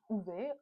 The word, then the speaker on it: Ove: A Man Called Ove, I heard it's it's pronounced "Ooh-vuh", like A Man Called Ove.